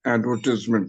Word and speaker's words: advertisement: The word advertise is pronounced as advertise or advertised, but advertisement, you have to shorten the ties into tis. You have to pronounce it as advertisement, not tisement.